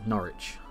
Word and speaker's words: Norwich: Yeah, how much place names have changed and how much some have stayed the same, like Kent spelt with a C instead of a K, and Thetford, Norwich, Northwick in this case, which is, yeah.